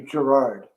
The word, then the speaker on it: Girouard: in the French Yeah. document, it's pronounced Girouard, but Girouard. it's actually Gerard.